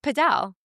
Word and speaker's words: padel: Well, it's either paddle or podell. Oh, it was invented in Mexico City. That's why it's called Padell, right? And they would say it. That's how you would pronounce it in a Spanish-sp speakaking territory.